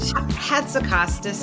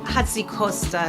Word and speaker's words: Hatzikostas: I'm going to pronounce this right. Beautiful. Aaron hats Costostas. Aaron H. Hatsicostas is how we say it in the US. Hatsy Costa is how they say in the Mediterranean.